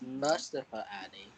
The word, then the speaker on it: Mustafa Ali: You said it wrong. It's Mustafa Ali.